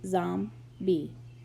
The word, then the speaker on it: zombie: Zombie. Pronounced Zom-bee. Noun.